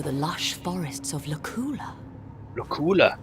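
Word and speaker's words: Luculla: Lacula. That's how you pronounce it.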